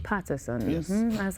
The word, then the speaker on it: Peterson: Did I pronounce that wrong? It's Peterson. Peterson.